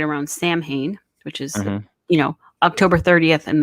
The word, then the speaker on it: Samhain: Samhain, I think is it looks like Samhain when you see it written, but Samhain is how I often hear it pronounced.